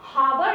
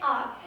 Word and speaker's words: hour: हम हावर नहीं बोलते, हम क्या बोलते हैं, आर. h is silent here, so we use article an.